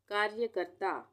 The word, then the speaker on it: कार्यकर्ता: कार्यकर्ता, कार्यकर्ता, ये भी आसान है, कार्य और कर्ता दोनों में ऊपर आधा र का उच्चारण आ रहा है, तो यहाँ पे रेफ की मात्रा लगेगी, कार्यकर्ता।